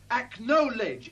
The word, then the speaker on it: acknowledge: cut it out no acknowledge acknowledge acknowledge three syllables spell it out to